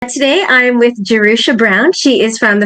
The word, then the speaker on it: Jerusha: Originally j e r like Jerusalem.